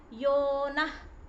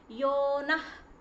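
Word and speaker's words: यो नः: Yonah. It is not yona, it is ending with ha. Yonah.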